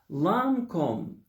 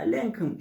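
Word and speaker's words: Lancôme: yazılıyor BB diye okunuyor lancom lcom şeklinde telaffuz duyabilirsiniz Belki buna zorlayabilir de lcom lancom ya lenom şeklinde bir İngiliz e ağzı yok burada lancom lcom o ile a arası bir şey bu E geçen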